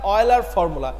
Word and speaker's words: Euler: So it satisfies the Euler formula. That is not Euler's, you can pronounce, not that is Euler's, that is Euler.